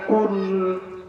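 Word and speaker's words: كن: এক কথা দুনিয়া এবং আখিরাতে যা কিছু আছে সবকিছু বানানোর যখন ইচ্ছা হয়েছে, আমার আল্লাহ রাব্বুল আলামিন বলেন কুন, কুন কাফ নুন পেশ কুন।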